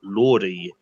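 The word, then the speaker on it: Lorde: It was Lordy. What's a Lordy? But the next question is... Is that a girl? Oh, the Royals girl. No, that was Lord. I thought you were just saying her name wrong.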